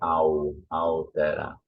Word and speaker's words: altera: Remember, we don't pronounce the L, so we say altera.